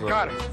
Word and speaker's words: қар: Қар. Car, like a driving. Car. Sound different, yeah. Car. Car. Car. Car. Like a car.